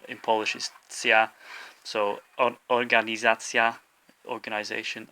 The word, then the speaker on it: organizacja: So organizacja, organisation, organizacja. The stress is on the second to last syllable, the za part, organizacja.